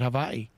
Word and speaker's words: Hawaii: Notice how I pronounce that, Hawaii.